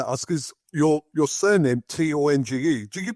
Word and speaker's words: Tonge: One thing I want to ask is your surname, Tonge. Do you pronounce it Tong or Tongue? It's Tonge, Tonge, Tongue, as in your mouth, tongue.